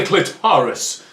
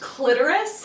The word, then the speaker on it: clitoris: such as myself to find the clitorus oh it's pronounced clitoris ha what would you